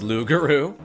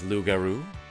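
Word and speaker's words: loup-garou: I say yeouch when someone throws a shuriken at my face, says Lugaroo. Um, that is kind of how you pronounce uh how you say the word werewolf in French.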